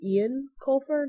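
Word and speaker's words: Eoin Colfer: reading the book um somebody corrected me on how to say that it was Ian Colfer not Owen or whatever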